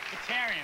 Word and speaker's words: Bahtiarian: Bahtiarian, that's correct. Bahtiarian.